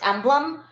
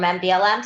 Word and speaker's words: MBLM: slide we do to let people know it's pronounced emblem a lot of people when they don't know us um will spell out the name and say can I speak to someone from mblm so that is something to think about when